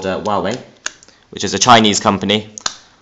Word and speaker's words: Huawei: So this dongle is made by a company called, well, I had to look up how to pronounce it. It's made by a company called Huawei, which is a Chinese company.